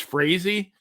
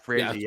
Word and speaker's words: Frazee: The Boston Red Sox owner, Harry, I guess it's Frazee, I believe it's pronounced. Frazee.